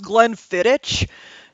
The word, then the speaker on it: Glenfiddich: where I was talking about the Glenfiddich, and this idiot is just like, it's pronounced Glenfiddich.